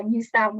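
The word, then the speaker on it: Nu Sound: new sound radio yeah new sound but it's spelled as n u sound so not an ew but new sound radio oh here are some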